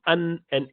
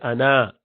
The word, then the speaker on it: أنا: Okay, so it's ana. You do not pronounce that alif. You do not say ana. You say ana, half prolongation for both.